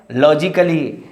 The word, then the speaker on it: logically: So don't say here is A letter is silent, and same as logically A letter is silent.